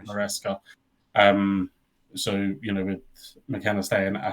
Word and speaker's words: Maresca: I always get his name wrong. Maresca.